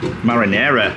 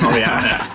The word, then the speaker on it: marinara: Marinara. Marin. Marinara. We always say Mariana.